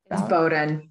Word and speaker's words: Bowdoin: studied women's women's women's studies at Bowdoin College Bowden nobody else to pronounce it thank you um she received her